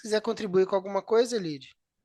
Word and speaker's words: Elide: Ou tem algum pronúncia diferente? Se quiser contribuir com alguma coisa, Elide.